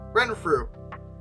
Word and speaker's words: Renfrew: The Baron of Renfrew? Is that what? Give me a second. Yeah, Renfrew. Okay. Honestly, I expected it to be pronounced really weirdly, but it really is spoken phonetically, so that's good.